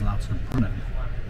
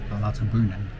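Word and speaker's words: Lauterbrunnen: to L Bren well I've just found out that the pronunciation is l brunin l brunin so uh I do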